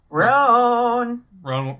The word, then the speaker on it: Roan: Roan rhymes with Moan.